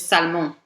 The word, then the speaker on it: Salmon: And my last name, which reads in English as Salmon, is actually my French last name, which is Salmon.